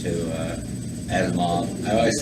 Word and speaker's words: Asimov: And I'm eclectic because I could go from Edmund Cooper to Isaac Asimov to Asimov. I always say his name wrong.